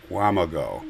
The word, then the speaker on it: Wamego: So she went into the Good Samaritan Society Rehab Center in Wamego, and some, by the way, pronounce it Wamago.